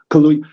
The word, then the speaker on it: Kaluuya: Daniel Kaluuya, I always mispronounce it. Kaluuya.